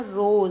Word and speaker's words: rows: तो जो parallel lines होती हैं किसी कॉलम की, उनको हम बोलते हैं रोज। Spelling ROWS।